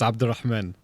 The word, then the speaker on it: Abdel Rahman: So the full name in Arabic is Abdel Rahman. That's how you say the first name.